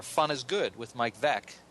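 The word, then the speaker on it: Veeck: And among his other books are Fun is Good with Mike Veck. Of course, you all baseball fans know that rhymes with wreck.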